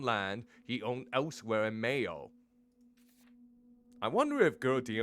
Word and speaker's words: Mayo: the name is from the Irish Mahan egg pronunciation Mayo much like the condoman yep I was right